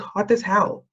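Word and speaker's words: Hotazel: at the town called hot as hell it's not spelled like that but that's how you pronounce it um and it's really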